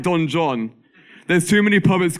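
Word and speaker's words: Don Juan: John Lord byon wrote Don ju but because of poetic form he made us pronounce it like Don John there's too many poets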